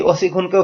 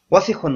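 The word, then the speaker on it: وسخ: তো সেই ওজনে এই অসিখুনকেও ফেলে দেয়, বলে অসিখুন অসিখুন। তো এটা ভুল উচ্চারণ, আপনারা এই ভুলটা করবেন না। অনেক ছাত্ররাই দর্শে দেখেছে ভুল করে, তো আপনারা এই ভুলটা করবেন না। এই শব্দটা দ্রুত করতে হবে, কোথাও কোনো মদ নেই, টান নেই।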